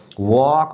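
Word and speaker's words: walk: टॉक बोलेंगे टॉक लेकिन इसमें जो ये एल है ना इस एल का उच्चारण नहीं होना है इसमें क्या हो जाएगा देखिए ये वॉक बोलेंगे इसको वॉक इसको क्या बोलेंगे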